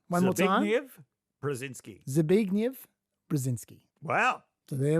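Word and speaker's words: Zbigniew Brzezinski: confident that I can tell you it is pronounced Zig brazinski okay zv brazinski one more time zv brazinski zv brazinski wow so there we go okay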